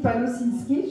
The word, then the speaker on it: Palosinski: Je continue avec Palosinski, je ne me trompe pas. La prononciation, c'est correct.